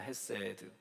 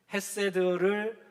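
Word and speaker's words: חסד: 헤세드. 헤세드를 이렇게 성수 격을 따라서 변형시켜서 하스도우라고 그렇게 발음이 되어지지만 원래 원 단어는 헤세드입니다.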